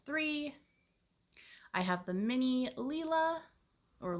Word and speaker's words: Lila: i have the mini leela or lila i think it's pronounced leela um but i always